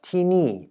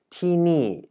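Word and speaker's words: ที่นี่: Then we have tini and tinan, and which is a difference here is that the actual second syllable of these two expressions differ. So tini is spoken in 2 falling tones.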